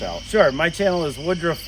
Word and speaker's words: Woodruff: sure my channel is Woodruff Woods that's w-o-o-d-r-u-f-f Woods just as it's spelled Woodruff is my last